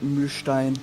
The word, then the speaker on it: Milstein: Or Milstein. Am I pronouncing it correctly? In Germany we say Mühlstein, because this is the German pronunciation, but I think you can pronounce it like you want.